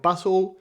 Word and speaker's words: puzle: de la palabra extranjera, pero la pronunciamos a la española, dando la impresión de ser una palabra completamente distinta, como ocurre con puzzle y baffle, ambas préstamos del inglés, que originalmente se pronuncian puzzle y buffle.